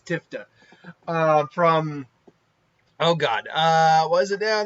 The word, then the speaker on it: Diphda: question, what is Alisha Diphda? Because the PH I think is silent, so Diphda? or Diphda. I think it's Diphda.